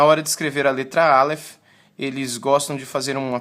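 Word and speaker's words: אלף: ok então essa primeira letra é a letra Alef Alef enquanto você me ouve eu peço que você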